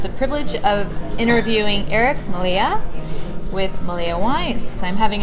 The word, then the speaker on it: Mallea: today I have the privilege of interviewing Eric Malia with malia wines I'm having a little bit of a hard time making sure that I'm pronouncing that right can you pronounce it for everybody okay it's pronounced Melia yeah so like I said right after